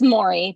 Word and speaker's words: Moray: It's Moray, but Okay. I'm used to Moray too.